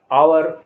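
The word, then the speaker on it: hour: आर ऑनर माने इज्जत एच ओ यू आर आवर आवर माने घंटा टी एच ओ एम ए S Thomas Thomas जिसमें के साइलेंट होगा वैसे भी वर्ड बताने जा रहा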